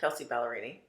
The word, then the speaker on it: Kelsey Ballerini: right I think I I'm gonna say her name wrong I think it's Kelsey ballerini am I saying it right yeah Kelsey ballerini she's all over Tick Tock right now with